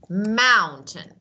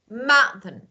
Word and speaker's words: mountain: saying it's like that we have uh a cutting off in my throat listen Buton Buton Mountain so T it's it's